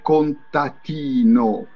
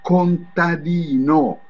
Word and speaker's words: contadino: mi diceva: Antonella, Antonella, non si dice contatino. Si dice contadino, hai capito?